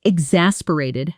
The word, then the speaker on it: exasperated: The word exasperated has a stress pattern worth practicing carefully. X a per a TED with the strongest stress on the second syllable.